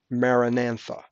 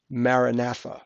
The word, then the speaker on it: Maranatha: word you hear sometimes Maranatha or actually Maranatha sorry my fault Maranatha I'll spell that for